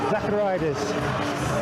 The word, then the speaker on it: Zacharidas: Isame Tuaga from 2-9 Commando, the Army soldier, against Marine Sacha Zacharidas, I think. We're told excellent pronunciation, so we'll take it.